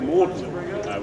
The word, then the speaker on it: Magdalen: However, he insisted that we should all use the archaic French pronunciation of Magdalen, which he believed was the only way of squeezing his own name, Audley, into the name of his college. You know, Magdalen, Audley. They're vaguely similar.